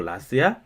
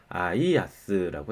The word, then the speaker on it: IaaS: 요거 이제 소문자 L로 착각해가지고 이거 라스야? 이런 분들이 있는데 아니고요. IaaS라고 읽으시면 돼요.